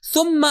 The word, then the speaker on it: ثم: ثم، کہ صحیح تلفظ اس کا ہے ثم یعنی پھر.